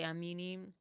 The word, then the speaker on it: Amani: This is Amini, or it's spelled Amani, but they say Amini.